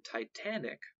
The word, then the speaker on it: titanic: The root titan has stress on the first syllable. However, when the suffix ic or ic is added, the stress shifts to the second syllable, as in titanic.